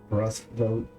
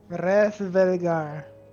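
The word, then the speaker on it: Hraesvelgr: Rasvogger? Will likely provide a... Huh? Resvelgar. Rasvogger? Resvelgar. Rasvogger. Resvelgar. That's the what I'm saying. Oh, you're saying Resvelgar.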